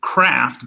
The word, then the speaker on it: Krhft: So it's Craft, but Craft is spelled KRHFT. So like Craft, but nothing like Craft.